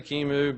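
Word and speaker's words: QEMU: also use Kimu um Kimu can pron can be pronounced many different ways I'm going to say Kimu but you've probably heard it pronounced any number of ways but it is going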